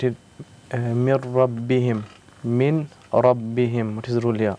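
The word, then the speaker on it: مِن رَبِّهِم: Min rabbihim. What is the rule here? After nun sakin came the letter ra. So what is the rule here? The noon is silent.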